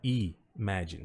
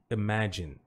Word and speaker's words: imagine: Então não é imagine, tá? É o i curto aqui, tá? Então é o e, imagine, imagine, imagine. Não pronuncie esse e, tá?